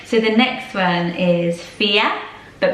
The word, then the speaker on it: Fiadh: So the next one is Fiadh, but pronounced like this on the screen, F-I-A-D-H.